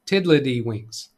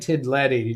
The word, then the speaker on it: Tiddlywinks: Now here it says Tiddlywinks, spelled with one word, tiddly. This one, Tiddlywinks. Tiddlywinks. I'm saying, I said Tiddledy just to point out to you, that is different.